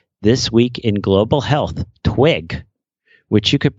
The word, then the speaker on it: TWIG: Instead, I'd like to offer you an idea for another TWiC series, This Week in Global Health, TWIG, which you could pronounce like twig, T-W-I-G-H.